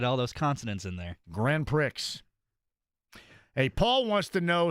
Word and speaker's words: Grand Prix: I like to reference it as Grand Pricks. Is that accurate? That's how you right. P R I in southern Indiana is not pronounced pre.